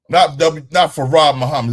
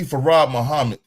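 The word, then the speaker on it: Fard Muhammad: Not Farad Muhammad. It's W.D. Farad Muhammad. If you want to say it right, you say it correctly.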